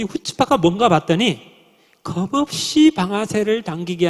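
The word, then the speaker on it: chutzpah: 히브리어는 앞에 C가 나오면 무조건 묵음이에요. 그럼 발음이 어떻게 됩니까? 후츠파.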